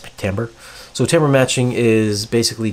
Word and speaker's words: timbre: think of it sound like timbre but it's pronounced pick Tambor so timbre matching is basically keeping this same